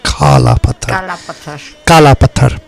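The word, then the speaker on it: Kala Patthar: Anjana Masi, you say Kala Pathar, not Kala Pathar.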